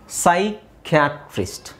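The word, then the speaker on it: psychiatrist: ಬರೀಬೇಕು ಓಕೆ ನಾವಿಲ್ಲಿ ನೋಡಿ ಇಲ್ಲಿ ಪಿ ಸೈಲೆಂಟ್ ಆಗಿರುತ್ತೆ ಸೈಕಿಯಾಟ್ರಿಸ್ಟ್ ಸೈಕಿಯಾಟ್ರಿಸ್ಟ್ ಸೈಕ್ ಅಂದಿದ್ ತಕ್ಷಣ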